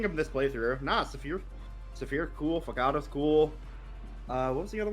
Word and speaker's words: Fogado: It's not Rosado. Fogado.